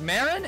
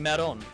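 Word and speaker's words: Maron: named their daughter meron but they pronounce it it's marin and meron as 18 likes to pronounce it to differentiate all that was is a nod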